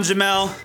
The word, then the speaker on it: Jamal: Yo, everybody, I'm Jamel, spelled Jamal, pronounced Jamel.